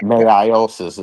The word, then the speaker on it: meiosis: Meiosis is deep.